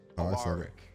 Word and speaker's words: Alaric: You'll probably want to pronounce it Alaric, but it's Alaric, okay?